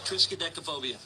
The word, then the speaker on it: Triskaidekaphobia: Triskaidekaphobia.